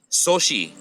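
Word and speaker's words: Xochi: was in your class sochi means flower sochi starts with x-o so the first pronunciation of the exo would be and then the rest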